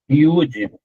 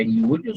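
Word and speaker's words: יוד: Iud, tá vendo? É, ó, cada sonzinho da letra aqui, ó. É iud sozinha a letra, mas se escreve com três letras, I, U, D.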